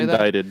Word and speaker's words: indicted: Is that how you say Indicted. that? Indicted. Wait, no. Yeah, it's indicted. Oh, is it like? The C is silent.